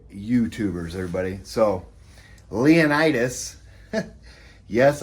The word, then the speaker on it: Leonidas: So, Leonidas. Yes, I've been pronouncing his name wrong the whole time. I was calling him Leonidas. It's Leonidas.